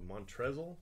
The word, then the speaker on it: Montrezl: I don't know, Montrezl? How do you say that? Montrez. How do you, Montrez? What the hell's the L doing at the end?